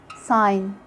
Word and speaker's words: sign: Letter G is silent when it comes before an N at the end of a word, like in sign, design, campaign, foreign.